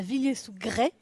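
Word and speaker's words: Villiers-sous-Grez: Tout à fait, ça c'est la bière de Miguel Garcia qui est la brasserie 77 Craft à Villiers-sous-Grès. On ne prononce pas le Z à la fin, c'est à 16 km d'ici.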